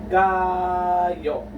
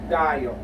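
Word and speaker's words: 가요: So example again for giok, we have the word kayo, which means to go or simply go. Alright, here this is gayo, gayo. Okay, so if you want to, if you're with a friend and you're leaving, so if you want to say I'm leaving now, so you would just simply say gayo, or still, even if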